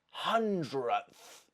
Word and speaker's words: hundredth: Hundredth. Do you notice that I've dropped a sound there? I don't say hundredth. That's too difficult. Hundredth. It's not even coming out.